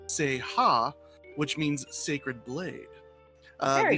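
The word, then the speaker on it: 聖刃: English word saber and two Japanese characters individually pronounced Seiha, which means sacred blade.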